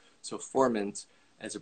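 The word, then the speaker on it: Furmint: is uh it looks like ferments but actually pronounced formant so formant as a pronunciation so i just want to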